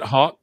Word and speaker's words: Hawke: You just got to spell it correctly. Robert Hawke. Is it Hawke?